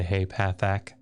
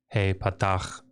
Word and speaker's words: patach: See how awful that is when I say hey pathak instead of hey patach dagesh.